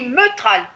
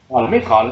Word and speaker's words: Métral: On dit Meutral, c'est ça? Métral, comment ça se prononce? Ah, Métral. Moi Métral, je disais Meutral.